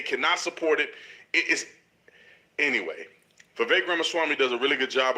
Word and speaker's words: Ramaswamy: Okay, so his name is pronounced Ramaswamy. Ramaswamy.